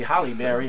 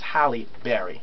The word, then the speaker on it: Halle Berry: He said it's Halle Berry. We all say Halle Berry or Halle Berry or da-da-da. It's Halle Berry. That's her name.